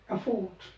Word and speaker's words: afford: AFFORD, एफोर्ट। तर आपण त्याला ॲप पासूनच जोरात नाही म्हणायचं आहे, एफोर्ट, not this way, एफोर्ट।